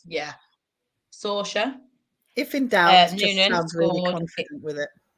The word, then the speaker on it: Saoirse: Here's pronunciation central. Saoirse, it is, I think. Saoirse Noonan. It is. It's, yeah. Saoirse.